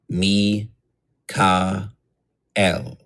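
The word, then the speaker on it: Michael: Do this syllable by syllable. Fire. Mi, ka, el.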